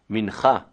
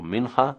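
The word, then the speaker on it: מנחה: The 3 prayers a day: Shacharit, the morning prayer; Mincha, in the afternoon, or Mincha, if you cannot pronounce the Cha; and Arvit or Ma'ariv,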